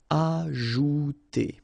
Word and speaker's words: ajouter: So remember, J is really pronounced like J. Ajouter.